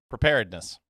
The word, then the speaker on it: preparedness: right there damn yeah there's another syllable in there right correct yeah say it again preparedness preparedness all right fine nerd alert